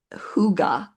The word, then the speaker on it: hygge: So, today we're talking about the idea of what's pronounced huga.